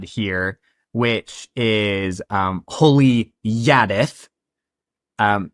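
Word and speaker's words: Jaddeth: Um he he name drops his god here which is um holy yadith. Um it's spelled with a J but words of Brandon has confirmed that it's pronounced with a Y. It's Yadith.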